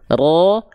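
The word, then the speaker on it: راء: cukup ro r r getarannya ada tapi bukan Getaran yang berlebihan R R R ro ri ru R Jadi bukan Getaran yang ro ri ru er jelas ya Jadi huruf r getarannya tidak berlebihan ya Nah lanjut ya kalau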